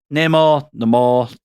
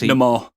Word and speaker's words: Namor: But I mean, and Namor, however you want to pronounce it, because Namor. they pronounce it Namor. It's literally pronounced different ways in the film.